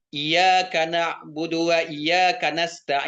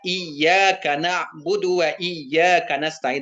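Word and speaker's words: إِيَّاكَ نَعْبُدُ وَإِيَّاكَ نَسْتَعِينُ: ee tasdid iyaka na'budunya tidak dibacanya tasdid, dibacanya iyaka na'budu wa iyaka nasta gitu. Seharusnya kan dibaca iyaka na'budu wa iyaka nastain. Harusnya dijelaskan tasdidnya.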